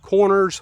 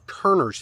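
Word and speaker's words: Körner: home which you know some people call it Corners Folly but really and truthfully the way the the name is spelled corner is actually with the German little two dots on the o so I think it would really be called Turner's Folly home so we're going to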